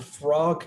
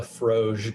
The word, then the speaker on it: Froge: border with lordland the frog kingdom or i suppose i should say it properly the froge kingdom apparently king heinrich's court